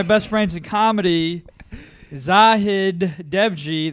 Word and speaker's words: Dewji: Vic Van Tran, introducing our guest for the week, one of my best friends in comedy, Zahid Dewji. That's how you say it, right? Dewji? Yeah, you're Asian.